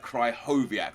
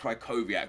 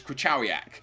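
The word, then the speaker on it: Krychowiak: cry hovak so like cry hovak not kovak but cry hovak and then another polish guy said that he was wrong and that it's caak so I don't think anyone really knows how to say his name um with that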